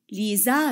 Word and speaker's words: Lisa: Et vous savez très bien que la lettre S a peur des voyelles et elle zozote entre deux voyelles.